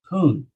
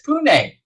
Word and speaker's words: Pune: i was saying it i was saying it wrong i've been saying it wrong for years because ira it's pune and i go let